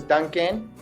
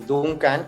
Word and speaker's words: Duncan: Hi everyone, my name is Duncan, or in Spanish everyone pronounces my name Duncan, so you can call me Duncan or Duncan Tonatiuh.